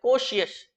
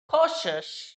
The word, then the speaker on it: cautious: CAUTIOS, बहुत से students इसका प्रोनाउंसिएशन करते हैं कोशियस। जी नहीं, ये कोशियस है ही नहीं, यह cautious, delicious नहीं, delicious, fictitious, ambitious, ambitious है वो बड़ा आदमी, बड़ा।